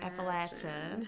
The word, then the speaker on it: Appalachia: or the short a oh it's it's appach Appalachia appal yeah so there's the so I think that's interesting is how people have such an emotional reaction to Appalachia so you need to know this if you're